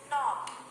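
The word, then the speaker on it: knot: letter sounds are silent when k and n come together then the sound of letter k is silent let's read some words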